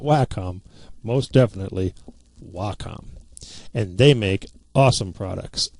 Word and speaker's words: Wacom: And yes, it is pronounced Wacom, not WHCOM, not Wacom. Most definitely Wacom, and they make awesome products.